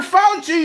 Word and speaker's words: Fauci: Fauci, you fucking idiot. Do I got to spell it out for you?